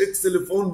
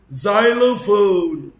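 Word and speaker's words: xylophone: زايلوفون بص عارف الاكسلفون اللي بنلعب بيه، بس ما بنقولش بقى في الانجليش اكسلفون، بنقول زايلوفون.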